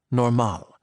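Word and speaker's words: normaal: state of being that the Dutch referred to as normal with the accent on the second syllable.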